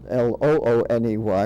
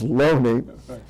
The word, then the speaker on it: Looney: fellow by the name of Loney his name is spelled l-o-o-n-e-y which would be Looney but it's pronounced lonely he wrote the first book claiming that it